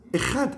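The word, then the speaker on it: אחד: Entonces, la palabra ejad, uno, ejad, si uno se equivoca, confunda, en lugar de pronunciar ejad con dalet, cambia la dalet por la reish, es un puntito.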